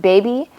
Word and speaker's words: BABE: So it's 1-800 BABE, but it's pronounced baby.